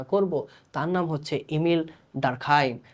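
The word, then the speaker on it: Durkheim: না না ভাইয়া, তার নাম তো ডুরখেম। হ্যাঁ, বাংলাদেশে আমরা ইউ দেখলেই খালি উ উচ্চারণ করতে চাই। তার জন্ম যেখানে হয়েছে, তারে নিয়ে যেখানে পড়ালেখা করা হয়েছে, ইংরেজি ভিডিওগুলো যদি আপনারা দেখেন, দেখবেন যে তাকে সবাই বলতেছে ইমিল ডারখাইম।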